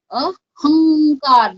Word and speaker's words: अहंकार: अहंकार, देखो अंग का प्रोनाउंसिएशन हो रहा है ना, अहंकार, पंचमाक्षर अंग। ओके, फिफ्थ लेटर है, क